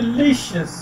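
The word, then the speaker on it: delicious: ठीक है, डिलीशियस, डी एक सिलेबल है, ली दूसरा सिलेबल है, शिस तीसरा सिलेबल है। तो ली पे जो है वो स्ट्रेस किया जाता है, ली पे, डिलीशियस। तो प्रोनाउंसिएशन इसकी बनती है डिलीशियस।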